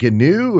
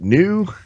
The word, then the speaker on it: GNU: So actually, it's hard G for both gnome, gnome, and Mm. GNU. They want the hard G because it stands for GNU, of course, and that's the recursive joke of various open source fame.